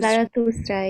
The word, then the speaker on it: Zarathustra: found the teachings of, I'm probably going to say it wrong, Zarathustra. That's Fascinating. right. Is that right? Yeah, Zarathustra. Zarathustra. Yeah, that is correct.